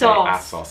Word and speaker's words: ASOS: The next one on the list, which I know 100% Americans say wrong, is ASOS. It's ASOS. It's ASOS.